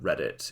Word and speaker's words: Reddit: I was not actually aware of the fact that Reddit is a pun on I have read it, as in I've read it, which is quite clever when you think about it.